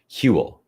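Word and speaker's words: Whewell: his name is pronounced huel okay well that's easy huel okay so you can just ignore that double w okay william huell hewl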